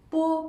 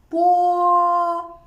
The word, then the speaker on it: bo: Bo is an unaspirated and bilabial plosive sound. When we pronounce it, long air is compressed by the closure of the lips. Then, the air escapes with a sudden release of the lip closure. It sounds like bo in boy.